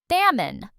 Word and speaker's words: salmon: This word has a silent L and it's a type of fish. Salmon.